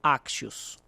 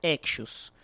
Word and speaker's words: Axios: terem fonéticas bem parecidas, geralmente o nome vem como Axios, tá? Então a gente escuta muito Axios. O nome correto, a empresa é canadense, né? Então a pronunciação correta pelo inglês seria Axios. Aí tem as variações um pouquinho erradas.